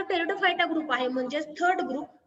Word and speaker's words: Pteridophyta: इन the name of टेरिडोफायटा द P is silent.